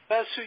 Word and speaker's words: Vasu: Vasu.